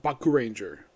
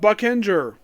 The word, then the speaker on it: Boukenger: the name of the show I'm reviewing I pronounce it Baku Ranger I thought like I thought that's how you